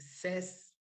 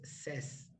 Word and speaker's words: says: mentioned this one guys since it's the simple present of the verb to say we pronounce it says right because many people